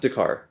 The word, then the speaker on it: Dakar: Uh, Pronounced Dakar. Yeah. Okay. Root Word. meaning Dakiar, which means clumsy.